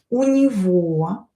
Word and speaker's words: у него: Сегодня, today, у него, this G as well pronounced as V, у него много дел.